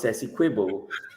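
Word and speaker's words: Essequibo: that by Mr President Maduro declaring squo correctly pronounced sess quibble a state of Venezuela he sent a signal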